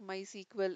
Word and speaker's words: MySQL: have given here and how it has been pronounced like my sequel and then it was originally founded and developed